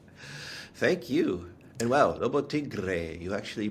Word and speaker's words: Lobo Tiggre: And my guest today is Lotigra from the independent speculator. I believe no further introduction is needed. Welcome back, my friend. Thank you. And wow, Lobo Tigra, you actually pronounced it right.